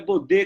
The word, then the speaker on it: Bodê: Meu sobrenome é Bodê, com acento, aí sempre fica bode.